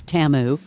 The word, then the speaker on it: Temu: to at least know how to pronounce it it's TAMU but did you find